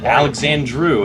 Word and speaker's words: Alexandru: Is that Alex? That's Yep. how you pronounce that? It's Alexandru, actually.